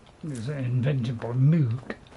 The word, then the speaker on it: Moog: It was invented by Moog, Mr. Moog, or Moog, as I think is the proper pronunciation, Mr. Moog.